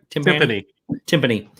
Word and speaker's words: Timpani: Did I say it right? Timpani. Jimmy Timpani, like the drums.